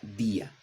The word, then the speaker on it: día: El diptongo no se crea cuando hay 2 vocales seguidas. Una de ellas es U o I y lleva tilde, como por ejemplo en el nombre María o en la palabra día. En este caso, las 2 vocales seguidas se dividen en 2 sílabas diferentes.